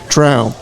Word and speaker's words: Traum: It's like Trout the fish, except with an M at the end, people. So Traum.